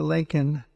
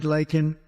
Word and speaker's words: Laken: they never called and then he pronounced her name wrong remember he called her Len remember that in Congress